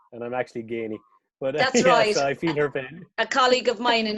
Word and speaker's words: Geaney: III would have pronounced it as ice as it's spelt I feel I always get called Guinea and I'm actually gaining a colleague of mine in our in here